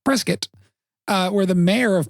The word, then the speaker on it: Prescott: Uh we I take it out to Prescott, Arizona, which is spelled Prescott, but apparently pronounced Preskitt.